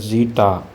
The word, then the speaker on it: zeta: Zeta, we have to pronounce this as zeta.